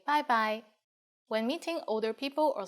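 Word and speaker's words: 拜拜: When it's time to leave, we say bye-bye for informal situations. And you are right, it's just like the English bye-bye with a Cantonese pronunciation.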